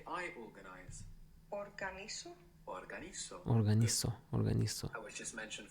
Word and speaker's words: organizo: You take away the AR, you add the O, organizo. Organization, organización, organizar. But trying to keep up with the Spanish pronunciation, that Z there is going to be pronounced th. Organizo in Spain.